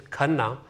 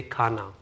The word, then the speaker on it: Khanna: which means evolution and my last name is karna but Americans say karna so it means evolution